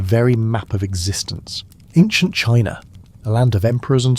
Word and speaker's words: qi: Qi, pronounced chi, was the vital force, the invisible stream that flowed through every living being, every tree, every breath of wind.